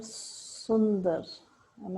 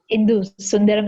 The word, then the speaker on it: Sundaram: i have toast master sunder am i pronouncing the name correctly yes hi yeah that's hindu yeah sundaram is the last name yeah yeah okay where